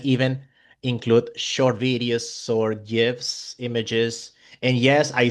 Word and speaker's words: GIF: boards, students can even include short videos or GIFs, images. And yes, I say GIF because the creator of that format, he said it's pronounced GIF.